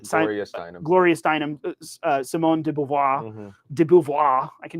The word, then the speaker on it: de Beauvoir: Gloria Steinem, Simone de Beauvoir.